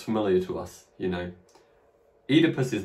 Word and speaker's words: Oedipus: Note that that combination OE is now pronounced E, Oedipus. But in Latin, that sound would have been pronounced OI. Now in English, though, we say E, so Oedipus.